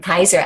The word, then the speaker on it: Peyser: There I go again, Peyser. I'm going to say, did I say it correctly, Randy? Yes, we're good.